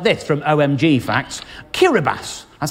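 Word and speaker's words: Kiribati: get fun facts like this from omg facts Keira bass that's how you pronounce it is the only country that falls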